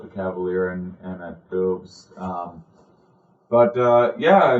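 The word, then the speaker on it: Bubs: I do two shows in Winona at Big Boobs and uh I was going to say it's B u BS but they pronounce it boobs.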